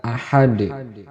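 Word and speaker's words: أحد: terjadi yaitu terdapat pada kata Ahad tidak boleh dibaca dengan huruf Ta ini adalah Dal karena ini diwakafkan atau dihentikan maka Dal di sini itu salah satu huruf Qalqalah maka cara bacanya yaitu dipantulkan menjadi Qalqalah kubroh karena diwakafkan lanjut ayat yang kedua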